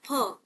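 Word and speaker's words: फ़: हमारा हिंदी वाला जो ये फ है ना इसको इसका सही उच्चारण फ नहीं है। इसका सही उच्चारण है फ। क्या बोला जाता है? फ। ठीक है? यहां पर क्या बोलते हैं? जब नुक्ता लगा हो तो फ।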